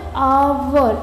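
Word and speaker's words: hour: इसको एच को देख के घबराना नहीं है, इसको जब बोलते हैं तो आवर ऐसी आवाज़ आती है, आ की, ए साइलेंट होता है, ठीक है।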